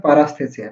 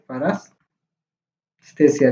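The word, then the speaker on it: paresthesia: ये सर ये थोड़ा स्पेलिंग मिस्टेक है, इसको बोलते हैं पारास्थेसिया, ठीक है, पारास्थेसिया, जिसको नॉमनेस फील होगा, लिम्स सब मसल सब नॉमनेस फील होगा।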